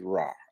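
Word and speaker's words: רע: evil, and you'll see the Hebrew word is Ra, A-R-A, or pronounced Ray by some.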